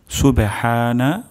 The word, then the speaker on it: সুবহানা: সুবে হানা, হা গলার মাঝখান থেকে উচ্চারণ হবে সুবে হানা।